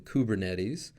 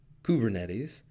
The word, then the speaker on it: Kubernetes: people you can expand emphasize the first part of the word as either COO in coop as in kubernetes or Kubb as in kubernetes either way you get